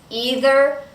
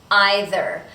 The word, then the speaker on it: either: is either or now notice with the word either that we have two possible pronunciations either or either either is more British either is more common in the United States but Americans use both I actually use both sometimes I use either sometimes I use either so both pronunciations are totally fine either or emphasizes a